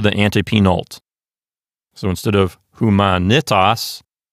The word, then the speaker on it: humanitas: Humanitas is next. The first syllable is H-U. The letter M, a consonant, starts the next syllable, which is M-A. The N starts the next syllable, which is N-I. Finally, we have a closed syllable at the end, that's T-A-S.